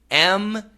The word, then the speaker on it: muesli: Okay, Jed, the pronunciation in America is usually muesli. Muesli. And that would be like according to your spelling, I think M-U-S-E-L-I.